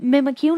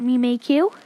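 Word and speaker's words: Mimikyu: you pre evolution and I pronounce it mimic you not me make you or it's really up to you cuz we don't have an official pronunciation so I'm gonna refer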